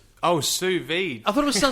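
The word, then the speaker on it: sous: cooking on what salv is that how you pronounce it salv SV s o u s v d e oh Su I thought it was Sal that is hilarious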